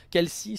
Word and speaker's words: Kelsey: Kelsi, c'est Kelsey. Ça se crie Kelsey, mais ça se prononce Kelsi.